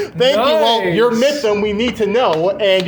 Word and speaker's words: MYTHM: how to say it they'll be like mym or something but uh yeah it's just myth myth with a M sometimes people like myth